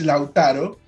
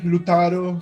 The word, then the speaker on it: Lautaro: It's Lautaro, but Lautaro. yeah. But you know, in Europe, the people say Lutaro.